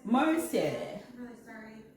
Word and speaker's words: Merci: There was a Frenchman in there, and he said it's called Mercy. Mercy.